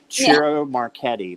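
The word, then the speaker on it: Ciro Marchetti: uh oh gosh i struggle over his name churro marquette that's how you say it yeah i think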